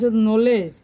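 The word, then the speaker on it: knowledge: হল ডবলিউ আরো বহু শব্দ আছে মানে ডবলিউ সাইলেন্ট ওয়ার্ড তার নলেজ কে এন ও ডবউ এল ইডি নলেজ নলেজ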